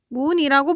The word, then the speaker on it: 학문: 라고 얘기를 할 때 우리가 이 친구를 어떻게 발음합니까? 항문이라고 발음을 합니다. 받침이 이응으로 변한단 말이야. 기억이 아니라.